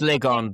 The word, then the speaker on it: Lygon: It's pronounced Lygon, but if you want to find it, Lygon.